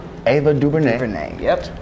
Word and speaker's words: DuVernay: Ava DuVernay, is that how you pronounce it? Ava DuVernay. DuVernay, yep. DuVernay.